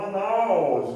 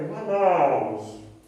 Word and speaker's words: Manaus: hotelaria, em alguns estabelecimentos, a palavra Manaus, com acento no O. Está errado por quê? Porque a sílaba tônica é na, né? Ou seja, é uma palavra paroxítona, não é oxítona, né? Então é Manaus, né?